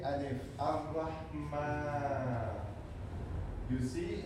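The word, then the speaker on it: الرحمن: We write a small alif, a small a. When you see it everywhere in Quran, you have to pronounce it. You have to say it, Ar-Rahman.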